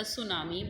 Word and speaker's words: tsunami: Okay, but in the spellings of tsunami, the T is silent, TSUNAMI, that is the tsunami, but T is silent, so we pronunciate it as tsunami, TSUNAMI.